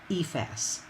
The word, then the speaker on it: EFAS: Most people shorten the acronym to EFAS, pronounced with emphasis on the long E.